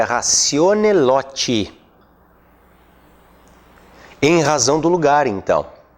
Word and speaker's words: ratione loci: Mas a pronúncia correta do latim é ratione loti.